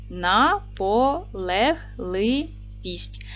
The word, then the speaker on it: наполегливість: поділимо слово на склади наполегливість наголос падає на третій склад н твердий приголосний а